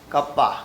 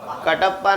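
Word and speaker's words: kappa: और एक दूसरा होता है मेरा फेवरेट, कप्पा। क्या बोलते हैं इसको? कटप्पा नहीं, ये है कप्पा।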